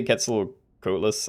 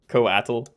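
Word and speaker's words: Quetzalcoatl: Yeah, I definitely used to say gets coatless, I think. And then people kept telling me to pronounce it coatal.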